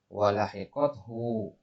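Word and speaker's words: ولحقته: Walahiqathu. Ini bacanya walahiqathu ya. Domanya salah posisi di situ.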